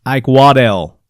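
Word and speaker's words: Eichwedel: e de l and he says it's pronounced i quod L so I quod L hope I'm saying that right i quod l aquaman man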